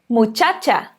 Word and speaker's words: muchacha: então vamos ver dois exemplos aqui com essa pronúncia o primeiro deles é a palavra mutchatcha gripe as muchacha muchacha significa garota ea que a gente tem